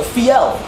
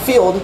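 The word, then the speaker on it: fjeld: Fi, and then an L, so fiel. It's actually not field, although it comes from field.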